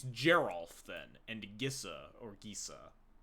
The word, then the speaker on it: Geralf: so it is it's Geral then and gissa or Giza so it's Geral it is like Gerald how